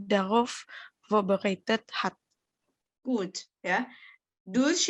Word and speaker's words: durch: Durch ini memang tulisannya durch ya. Tapi orang Jerman lebih senang bacanya durch.